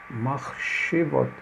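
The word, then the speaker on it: מחשבות: Machshevot. Machshevot. O mach só está indicando aqui o som do het. Mach. Porque o shuvá é mudo. Mach, she. Agora aqui não. Aqui ele dá o som de E.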